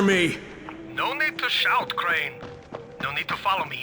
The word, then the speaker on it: Crane: Crane rhymes with train and brain and train and grain and rain and plane and the other kind of plane and and but can I come in?